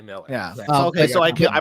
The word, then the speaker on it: Millar: I'll give you the Mark Millard thing. We got confirmation from from her last week when he was on the show that it was Miller. Miller. It is actually Miller.